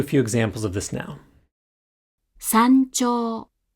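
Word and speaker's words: 山頂: Thus, before chi and ji, the hatsuon is articulated like this, as a pre-palatal nasal. Try listening to a few examples of this now. 山頂、山頂、山頂。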